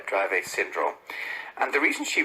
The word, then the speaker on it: Dravet: Vera, can you just explain for our listeners, and I may be mispronouncing Dravet syndrome, is that right?